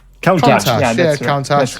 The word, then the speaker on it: Countach: Countach. Countach. Yeah, that's Countach. right. Lamborghini Yeah. Countach. It's fine. A Brit telling another Brit how to pronounce.